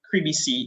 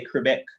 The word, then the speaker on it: CREEBC: series of energy see creepy c in a snapshot virtual turn on i was going to say quebec because that's how we tend to pronounce it but i'm catching on to an additional pronunciation creepy c in a